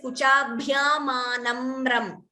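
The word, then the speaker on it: कुचाभ्यामानम्रम्: Is it kuchabhyamanambram is one doubt. There is no second ba here. It is not nambram. It is kuchabhyamanamram. There is no b here between na and mra.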